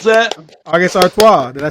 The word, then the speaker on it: August Artois: How'd you pronounce that? August Artois.